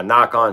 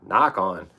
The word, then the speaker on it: Nikon: There's no two E's. There's no accent mark over the I in any kind. And the way our pronunciation system works, that I is a long I, Nikon. So it'll always be Nikon to me.